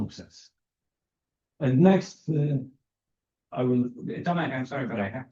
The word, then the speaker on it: Tomasz: Okay, so it's a pleasure to have Tomasz here.